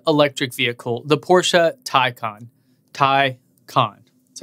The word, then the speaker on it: Taycan: Taycan. That's how you say it. Taycan.